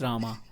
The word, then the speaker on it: Rama: not singing right because it's not Ram, it's Rama, because they are practiced in a certain way.